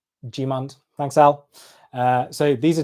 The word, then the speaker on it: Gmund: Al has corrected my pronunciation of Gmund. It's pronounced Gmund.